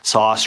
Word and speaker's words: Soss: was known as Wilma sauce s-o-s-s sauce rhymes with boss um people who didn't